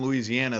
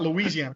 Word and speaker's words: Louisiana: It's not Louisiana. I pronounce it wrong. It's Louisiana. Thank you for that.